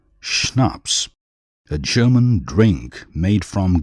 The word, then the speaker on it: Schnaps: that was the end of the matter schnaps pronounced schnaps a German drink made from grain calow a